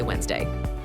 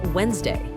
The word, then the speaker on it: Wednesday: We don't say Wednesday. We say Wednesday.